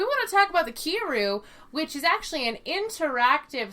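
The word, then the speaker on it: Kiiroo: um but we want to talk about the kiru which is actually an interactive sex toy um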